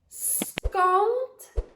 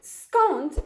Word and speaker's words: skąd: So we have the Polish vowel on, okay? On.